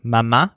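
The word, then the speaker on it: mamá: are mama and papa in each case the stressed syllables are ma and pas so you're gonna say mama for Mom or Madre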